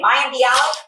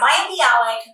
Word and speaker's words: Maya Bialik: Maya Bialik? Perfect. Yeah, Maya Bialik.